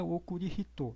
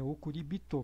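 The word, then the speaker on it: おくりびと: tô vira okuribito né não é okuribito é okuribito porque porque no japonês existe aquela aquelas coisas que existem no português também que é é facilitar a pronúncia das palavras para tornar o som mais agradável né e e mais fluente no falar então é muito mais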